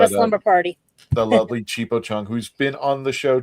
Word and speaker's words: Chipo Chung: It is Chan Chipo Chung Tho, if you pronounce it right, but it's actually Chipo Chung.